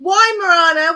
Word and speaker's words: Weimaraner: It's a fucking Weimaraner. We don't say fucking Volkswagen. You're not fucking American. Only Americans say Weimaraner. We say Weimaraner, like the German.